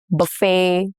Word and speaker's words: buffet: Examples are ballet, buffet, crochet, all have the T's that are silent.